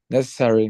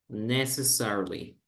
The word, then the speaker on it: necessarily: By the way, it's not correct. We would say in English like this. Necessarily.